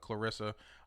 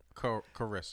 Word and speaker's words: Carissa: No, but on December 6th I'll be working with Clarissa doing her Christmas thing for Clarissa Brown. lady. Yeah. You still don't say her name right. And then it's Carissa. Carissa. It's No L.